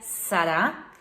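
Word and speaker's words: שרה: nome muito comum e a gente pronuncia sará e sará é literalmente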